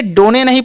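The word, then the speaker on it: done: एन ई तो इसे डोनेली पढ़ेंगे इसे हम लोग पढ़ते हैं डन डी का उच्चारण ड करना है ओ का अ एन से न ठीक है इ का उच्चारण नहीं होगा क्योंकि पता ही होगा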